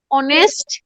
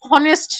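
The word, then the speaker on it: honest: এরপরেও অনেক জায়গায় অনেক চেঞ্জ, যেমন অনেস্ট কেন হনেস্ট না, এটা সাউন্ডস এর কারণে, যেটা অ্যালফাবেটস করে হবে না।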